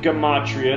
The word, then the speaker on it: gematria: The subject is gematria. That's the proper way to say the word. People who follow me hear me say it. That's what I said. Gematria all the time, because that's the way I learned it before I was corrected. Of course, it's a word that almost nobody's ever heard of, so it's easy to mispronounce it.